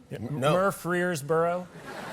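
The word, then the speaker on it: Murfreesboro: in murer Boro Tennessee mboro I'm pronouncing it correctly I'm not mispronouncing it that's how it's pronounced that's a place mboro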